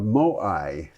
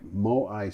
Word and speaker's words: Moai: Our first item is a picture of Moai. I'm I'm told that's the pronunciation.